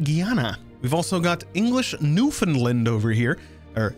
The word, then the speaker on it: Newfoundland: We've also got English Newfoundland over here, or Newfoundland, if you want to say it phonetically.